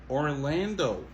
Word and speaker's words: Orlando: Orlando. Montez sur deuxième syllabe là. Ok?